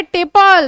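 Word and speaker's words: tepal: ऐसे स्ट्रक्चर को बोला जाता है टेपल। देखो टेपल क्यों दिया? टेपल, पेटल का थोड़ा सा प्रोनाउंसिएशन टिप और पल, ठीक है, दोनों में ही पल है।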